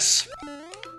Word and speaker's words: Kohl's: it varies by area do you not have coals it's like a JC Pennies it's like a JC Pennies or like a um it's spelled with a K by the way it's k o h l s it's like a JC